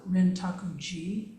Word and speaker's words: Rintaku-ji: And the pronunciation of that in English I shared with you is Rintaku-ji, but it's translated as forest crossing over temple.